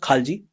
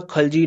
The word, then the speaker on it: Khalji: Basically, it is a tribe called Khalji, but we also pronounce it as Khilji. So Khaljis 1290 to 1320 AD, and the first one was Jalaluddin Khilji.